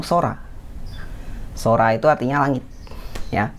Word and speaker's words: 空: ya Nah kanji ini dikenal dengan cara baca yaitu Sora Sora itu artinya langit